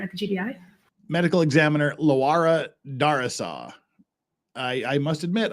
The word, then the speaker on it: Laura: bu of investig wait her name is Laura and she pronounced it Lara wait what can you